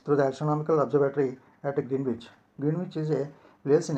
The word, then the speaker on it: Greenwich: Greenwich, though it is spelled that way, is pronounced Greenwich with the accent on Gren.